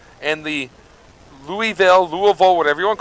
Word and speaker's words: Louisville: It's Louisville in our house and so I've said it as Louisville ever since.